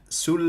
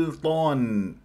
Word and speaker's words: سلطان: عند نطق حرف السين اولا تفخيم حرف السين خصوصا اذا جاورت حرف مستعلي او الف هذا خطا لان السين حرف مستفل مرقق على كل حال مثلا هنا كلمه سلطان سلطان سلطان سلطان ما انزل الله